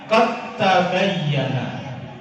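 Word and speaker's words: قَدْ تَبَيَّنَ: Ayat berikutnya qad tabayyana, bukan qad. Mestinya kan dal kan? Qad tabayyana. Kenapa nggak dipantulkan? Karena dalnya dianggap sudah nggak ada lagi. Dal masuk ke ta, dalnya dianggap sudah tidak ada. Tidak boleh dipantulkan.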